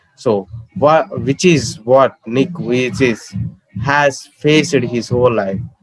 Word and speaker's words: Vujicic: The pronunciation is Vujicic. Okay, so which is what Nick Vujicic has faced his whole life.